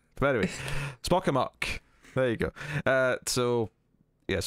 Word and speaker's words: Spock Amok: It is called Spock Amok. I feel like I'm pronouncing that weird, but I feel like it should rhyme, because it's Spock Amok. But anyway, Spock Amok.